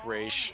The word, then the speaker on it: Ra's: and everything like that, it's Ra's, pronounced Raish. yeah, Ra's is the appropriate way of saying it. I mean, even if you say it as Ross, you're not technically wrong. It's spelled that way. You could always say that, but you could say there's like that little line on top of the A that gives it the Aish part.